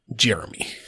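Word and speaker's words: Ger'me: like that um well it's spelled g e r apostrophe me but it is pronounced Jeremy a very FL ACC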